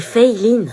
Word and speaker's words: Feyelin: C'est Feiline. Feyelin. Feyelin. Feyeline? C'est Feiline. Bah, c'est écrit Feyelin. Oui, mais ça se prononce Fei, c'est américain en fait, et Line parce que c'est asiatique.